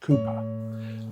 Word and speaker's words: William Cowper: So the poet I'd like to talk about today is William Kooper. His name is spelled Kalpa but it's pronounced Kooper.